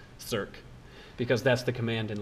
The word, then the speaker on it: circ: That symbol right there is, for young mathematicians and youngish mathematicians anyway, is often pronounced circ, because that's the command in LaTeX that you have to type to make it show up.